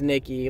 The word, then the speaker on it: Nike: a brand name but the goddess name is Nikki and the the brand name is Nike but because the brand is therefore you know inspired by the Greek goddess just letting y'all know it's really pronounced Nikki like learn Greek anyway I'm in eeka